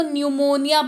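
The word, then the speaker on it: pneumonia: बात करते हैं की अगर किसी शब्द में पी के तुरंत बाद एन या टी हो तो पी का उच्चारण नहीं किया जाता यह थोड़ा सा डिफिकल्ट नहीं इसको निमोनिया पढ़ने हैं निमोनिया पढ़ने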